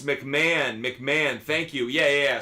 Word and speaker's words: McMahon: Oh, it's McMahon. McMahon, thank you. Yeah. Sorry. Pronounced it wrong. Ryan McMahon. Ryan McMahon is how I should pronounce it.